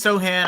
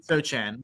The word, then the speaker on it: Sochan: Yeah, I think it's Sohan. I know it's not Sochan. That's how you want to say it, but I think it's Sohan or I don't know.